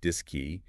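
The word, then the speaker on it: DSKY: the computer itself the dsk Y pronounced dis key and the IMU the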